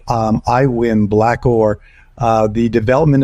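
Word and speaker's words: Aiwyn: discussions is like you I mentioned iWin and it's spelled weird a iwi n right um we've seen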